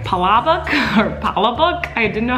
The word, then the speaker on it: palabok: Palabok? Palabok. How do you say this? Jujubee.